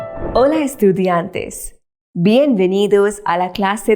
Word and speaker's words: hola: be familiar with it it's pronounced as hola I'll repeat again hola now there's another thing